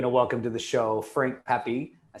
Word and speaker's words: Frank Pepe: So with that, we're going to welcome to the show Frank Pepe. I said that right? Yep, said it right. Yeah, I was like, I'm straight up gonna be like Frank Pepe, like Pepe Le Pew.